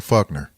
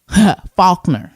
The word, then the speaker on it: Faulkner: is known as a you say faulkner or fuckner faulkner okay you want me to